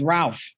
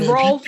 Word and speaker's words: Rolf: The teen, Rolf. Oh, it was Rolf. I thought his name was Ralph. I made it American. But that's how people But it's Rolf, and his name was Dan.